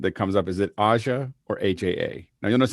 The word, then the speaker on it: AJA: common question that that comes up is it asha or aja now you'll notice i say aja because i believe that that's the correct the the correct pronunciation but we have but but everyone always